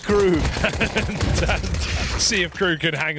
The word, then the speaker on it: KRÜ: It's pronounced crew.